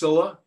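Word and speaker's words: Scylla: entire book and finally here we have skilla sometimes pronounced cilla this was a very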